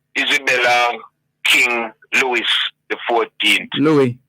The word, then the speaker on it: Louis: Louis, I think the S is silent.